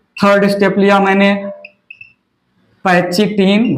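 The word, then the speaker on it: pachytene: यहां से third step लिया मैंने, पैचिटिन, वैसे मैं नहीं बोलता, मैं तो पैकेटिन प्रोनाउंसिएशन करता हूं, पैकेटिन या पैकिनेमा, पैकेटिन या पैकिनेमा।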